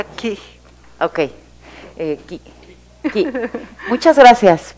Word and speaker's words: Cih: Se pronuncia Ki.